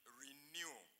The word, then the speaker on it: RENU: We took new from the Greek alphabet and took the initials research and education of Uganda and called it renew a constant rate state